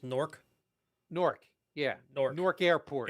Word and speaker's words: Newark: new jersey and it's nork newark yeah north north airport it's pronounced pigeons and the hookers it's like it's spelled n-o-r-k it's basically what it sounds it's one syllable nork nork okay new york